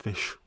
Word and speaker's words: ghoti: The famous one with GHOTI is pronounced fish. GH is in trough. O is in women. TI as in nation.